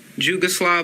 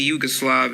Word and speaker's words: Jugoslav: okay jate Juggernaut jugy jugoslav but it's really Yugoslav and Yugoslav and Yugoslavian